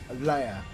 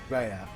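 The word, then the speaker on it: Reah: Yeah, so I pronounce it as Leia rather than Rhea.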